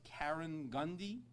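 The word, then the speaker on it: Karegnondi: I don't want to mispronounce it. It's Karen Gundy Water Authority.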